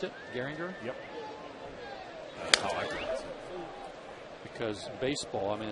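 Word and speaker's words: Gehringer: Oh, is that how they pronounced it? Garinger.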